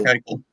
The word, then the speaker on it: Eichel: Am I saying it right, Carter? Or Eichel? Jack Eichel. Jack Eichel? Yeah.